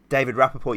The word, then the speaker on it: David Rappaport: is that how you say his name uh david rappaport yeah yeah i'll come back to him because